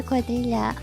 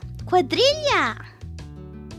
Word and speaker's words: Quadrilla: Very fond of the quadrilla. I start getting the impression that I've already had a conversation like this one. Quadrilla. Ooh, there you go. Quadrilla. Perfect. Yippee. It's pronounced as quadrilla.